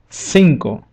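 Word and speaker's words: cinco: and this will apply when the letter c is followed by the bowels e and I for example word SLE means five in English we see that the bowel I is standing on the right side of letter C so this rule will apply sinko sinkle let's move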